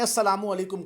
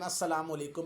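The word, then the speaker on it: السلام علیکم: वो लाम जो है वो साइलेंट होता है, पढ़ा नहीं जाता, लेकिन अस्सलामु अलैकुम में अली लाम लाजमी होता है।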